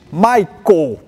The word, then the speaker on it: Maikel: who is that Guy My name is Michel Just yeah as you pronounce in Dutch eh I do mainly